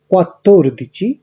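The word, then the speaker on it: quattordici: 12-এর ক্ষেত্রে উচ্চারণ হচ্ছে দো দিচি, 3-এর ক্ষেত্রে বা 13-র ক্ষেত্রে ত্রে দিচি, 14-র ক্ষেত্রে কোয়াত্তোর দিচি, 15-র ক্ষেত্রে কুইন দিচি এবং 16-র ক্ষেত্রে সেই দিচি।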